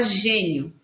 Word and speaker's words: gênio: atenção gênio o gênio Qual é a sílaba mais forte hora sílaba mais forte é a g Então você vai pintar